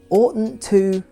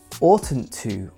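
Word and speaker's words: oughtn't: to say especially for British English speakers who often don't pronounce the T in the middle of a word ought Orton to or Orton to it's important to it's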